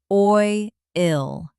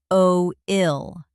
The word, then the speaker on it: oil: Oil is one syllable. Oi ill, not o ill.